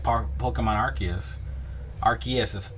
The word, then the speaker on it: Arceus: the newer pokemon games with like pokemon arceus arceus is pronounced arceus not arceus arceus but uh something like that